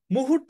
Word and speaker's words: মুহূর্ত: মুহূর্ত এভাবে মনে রাখি আমি উচ্চারণ করি এভাবে মুহূর্ত তো তাহলে আমি আবার যদি উচ্চারণ করি মুহূর্ত তার মানে মু এক আলিফ তাহলে রসকার কারণ ছোট টান দিয়েছি এরপর হ এর নিচে বড় টান দিয়েছি তাহলে হ এর নিচে দীর্ঘকার মু এর নিচে রসকার হ এর নিচে দীর্ঘকার বুঝছো মু এক আলিফ আর হু তিন আলিফ এভাবে মনে রাখবা মুহূর্ত ক্লিয়ার একটু নিজে